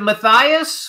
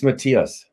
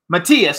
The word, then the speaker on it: Matthias: have a question for you so is it Maas mathas how do we pronounce it correctly it's Matias Matias see that's what I said I said that